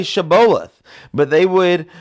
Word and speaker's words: Shibboleth: They couldn't say Shibboleth, but they would pronounce it Sibboleth. They couldn't say shh. They say s, right?